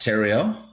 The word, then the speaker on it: Theriault: about Theriault Theriault is my name rhymes with stereo if you dropped the s epic real estate is